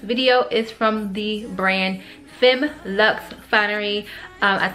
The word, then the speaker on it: Femme Luxe: looks in this video is from the brand Finn Lux finery I said it wrong in my last